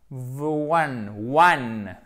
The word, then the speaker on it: one: One. Et non pas on.